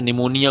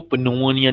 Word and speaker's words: निमोनिया: Phthalic एनहाइड, पथैलिक नहीं बोलेंगे बेटा, पी साइलेंट होता है, जैसे निमोनिया को पनोनिया नहीं बोलते, पी साइलेंट है, वैसे ये भी थैलिक एनहाइड्राइड है, पी साइलेंट रखना है बेटा।